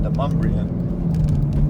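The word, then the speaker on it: DeMonbreun: And this street right here is Demumbrian Street, and that is spelled Demon Breun, like Demon B-R-E-U-M, but it's pronounced Demumbrian.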